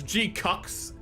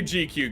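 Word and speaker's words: GQuuuuuuX: G-Cuck is correct. It's G-Cucks. That is how they say it in the anime. And people always like, oh, I say GQ because it's just quick, but they do in the anime. They just go the G-Cooks.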